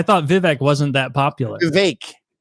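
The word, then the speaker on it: Vivek: vivec wasn't that popular VI it rhymes with cake they give me a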